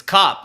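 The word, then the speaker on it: Kape: Is this Cape or Cop? It's Cop, like Cop. The police. Yeah, that's how he pronounces it, Cop.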